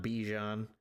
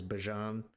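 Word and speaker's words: Bijan: Bjan Robinson. I seen a clip where they were asking him how to actually pronounce his name. It is not Bejon, it is Bjon.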